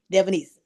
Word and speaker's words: Devonese: And I like to break it down and say Devon, Devon, East, ESE, Devonese.